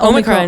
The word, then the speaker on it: Omicron: Yeah, Omicron, yeah.